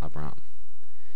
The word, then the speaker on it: Abram: the ending changes so we know Abram we know it's two syllables and we know we accent that second syllable Abram but remember that in